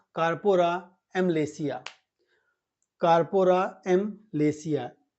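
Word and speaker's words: amylacea: ठीक है ना कार्पो एम लेसिया कार्पो एम लेसिया ए एम वाई एल ए सीई एम लेसिया ठीक है ना वाय साइलेंट है तो कार्पो एम लेसिया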